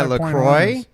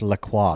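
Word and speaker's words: LaCroix: in I'm drinking my lroy uh I believe it's pronounced laqua laqua laqua no not lra I don't want FR it does sound French is that like French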